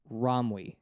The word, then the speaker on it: Romwe: Romwe, literally how it's spelled.